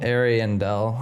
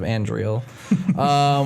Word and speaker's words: Ariandel: Ashes of Ariandel. Ariandel. I pulled it up here so I wouldn't say it right because I just call it Ashes of Andriel.